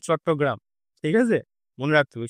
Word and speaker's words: চট্টগ্রাম: হয়েছিল সেটা হলো আমাদের চিটগাঁও আর্মারি রেড 1930 সালে সূর্য সেনের দ্বারা। এবার এটা আমাদের ইংলিশে প্রোনাউন্সিয়েশনটা হয় চিটগাঁও, কিন্তু এটা যদি আমরা বাংলায় বলি হবে আমাদের চট্টগ্রাম।